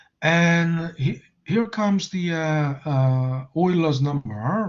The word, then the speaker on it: Euler: So Euler was, it's pronounced Euler, right? In honor of his, German heritage. You don't call it Euler. I mean, if you call it Euler, you are, in a